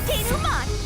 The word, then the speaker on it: denouement: Time for the deduction denouement. Oh, that's how it's pronounced.